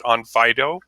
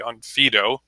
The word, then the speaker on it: Onfido: I'm the CTO at OnFido, or actually OnFido. Mary, you made me pronounce my own company wrong.